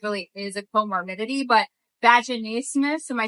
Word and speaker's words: vaginismus: don't think it really is a comorbidity, but vaginismus, am I saying it right?